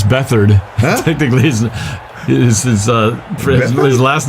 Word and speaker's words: Beathard: It looks like beat hard. It's Beathard. Huh? Technically, his last name is pronounced Beathard. It looks like beat hard, but it's Beathard.